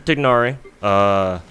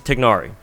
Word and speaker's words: Tighnari: Tighnari, I call him Tighnari, so I pronounce the G. I'm pretty sure you're not supposed to, but I got stuck doing that.